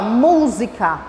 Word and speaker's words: música: Então aqui, ó, música. Olha a pronúncia. Música. Ela dá uma puxadinha, ela dá uma esticadinha.